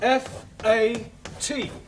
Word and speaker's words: fat: Let's take the word F A T. Now that has a flat A sound.